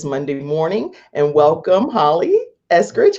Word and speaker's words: Eskridge: And am I pronouncing your name right, Eskridge?